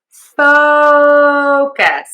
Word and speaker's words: focus: So, this word is focus and I am stressing syllable number one. Focus, focus, focus, focus, focus. The mistake that I hear is people say focus all the time.